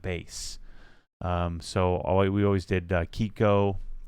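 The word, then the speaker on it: Chicco: So we always did Kiko. I think that's how it's pronounced. It's not Chico. I think it's Kiko.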